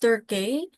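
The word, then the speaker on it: Tukey: It's pronounced Turkey.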